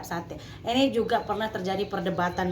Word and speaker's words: satai: e a sate tulisannya kalau kita baca s a t a i satai Tapi bacanya tetap sate ini juga pernah terjadi